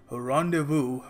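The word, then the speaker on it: rendezvous: with Simi Garewal तो पहली बात तो इसकी जो प्रोनंसिएशन है वो समझ लो के यहां पर जो एस है इसको हम प्रोनाउंस नहीं करते साइलेंट है तो हम इसको कहेंगे रोंडे वू रडे वू ऑलराइट तो यह पहरी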